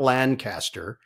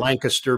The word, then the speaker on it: Lancaster: They went to Lancaster, Pennsylvania, and make sure you say it correctly. It's not Lancaster. Interesting. Lancaster, Pennsylvania. Like Secaucus in Secaucus.